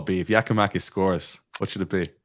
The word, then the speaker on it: Giakoumakis: Pronunciation, Sydney. Say it again, Sydney. Say it again. Yorgos Giakoumakis.